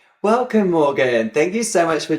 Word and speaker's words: Morgane: I assume I say that incorrectly because in the UK we would say Morgan, but in France you probably say it very pretty and beautiful. Do you say like Morgane or how do you say it? I say Morgane in French, but Morgan is fine.